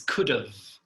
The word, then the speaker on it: could've: she could have so listen to my pronunciation mega his could've could've yeah it's like a schwa we spoke about the schwa uh-uh-uh and then Oh at the end could've and sometimes we don't